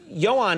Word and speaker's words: Ioan: The name is Ioan, is I-O-A-N. Yes. And then Gruffudd is G-R-U-F-F-U-D-D, Gruffudd. Yes, that's how you would pronounce it, yes, phonetically, looking yes, at it.